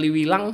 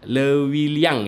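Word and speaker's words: Leuwiliang: ini yang masuk ke Liwilang ya? Dramaga Liwilang ya namanya ya." Saya salah kali ya bacanya ya, Lewiliang ya.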